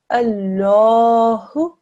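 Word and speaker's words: الله: the word Allah okay here carries a Fattah that means that this large is pronounced in a thick and heavy way so when we read it we say Allah well done in this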